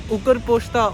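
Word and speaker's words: Укрпошта: In Ukrainian we say it like Ukrpochta or Nova Pochta.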